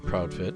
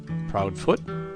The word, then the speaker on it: Proudfit: counseled the family to preserve in this way the scottish pronunciation of the name let's go back to